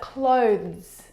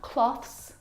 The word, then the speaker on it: clothes: clothes are your clothes but clothes clothes not cloths not clothes and not close those either the difficult thing about the pronunciation of this word is the two consonant sounds and together both of those sounds are voiced consonant sounds so the sound is made here in your vocal cords now the thing to